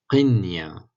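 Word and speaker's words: قنية: Qinya, qinya, donc soukoun sur le noun.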